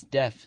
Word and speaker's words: Deaf: this was the famous deaf Smith destined to become yet more famous although they generally pronounced a deef in Texas guess we didn't come